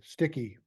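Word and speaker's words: Stikky: That's spelled S-T-I-K-K-Y, Sticky.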